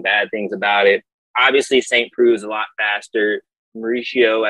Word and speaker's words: Saint Preux: Saint Preux.